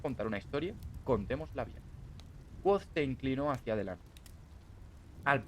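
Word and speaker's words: Kvothe: Me llamo Quoth, que se pronuncia Quoth.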